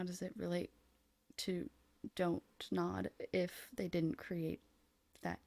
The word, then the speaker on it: Don't Nod: climbing exploration puzzle game from donut don't nod like do not nod do not nod the contraction of do not don't nod well there's no actual